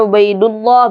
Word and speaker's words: Ubaidullah: Ya, di sini kalau tidak ada ya, maka bacanya Abdullah. Tapi kalau ada ya, Ubaid. Ya. Di sini ada ya-nya nih.